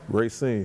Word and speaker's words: Racine: That's how you pronounce it? Racine. Racine, Wisconsin.